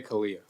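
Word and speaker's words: CALEA: you say c-a-l-e-a or do you say Calia how do you pronounce it that's who you're accredited through correct yeah I say Kalia Kalia okay so you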